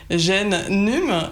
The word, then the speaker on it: GenNum: questions sur le hashtag GenNum. Non, est-ce que je l'ai bien prononcé cette fois-ci ? Tout à fait. Voilà, là, c'est parfait. Bon. Parce que c'est Génération Numérique, c'est tout simple.